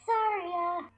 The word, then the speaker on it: Saria: It's Saria.